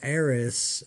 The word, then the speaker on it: Ares: this is a Bushnell heiress a-r-e-s I believe is how they say it it's got a four